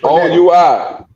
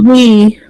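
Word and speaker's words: oui: It's a French oi. And how do you pronounce it? Oi. No, it's we. Pronounce it we, my brother.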